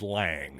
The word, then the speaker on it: Lang: to the horse's mouth I asked Jack Lang how you pronounce his name and yes it is indeed Lang so mystery solve there